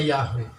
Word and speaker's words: Yahweh: nama aslinya itu yahoo kalau dalam tulisan ibrani yo hai tapi bacanya yahweh itu bukan bahasa ya